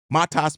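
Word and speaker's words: Matas: is about our rook, Matss Buzelies. You don't pronounce the T as a T.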